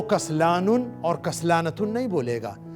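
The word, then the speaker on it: كسلان: Masculine के लिए कसलानुन. कसलानुन, छोटा काफ, कसलानुन. काफ के ऊपर फतहा, सीन के ऊपर सुकून, कस. लाम के ऊपर फतहा, उसके बाद लॉन्ग वावेल अलिफ, कसला. नून के ऊपर तनवीन, कसलानुन.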